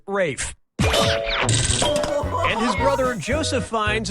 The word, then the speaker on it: Ralph: 3 yep ray Fiennes first name is spelled like ralph but pronounced Rafe and his brother Joseph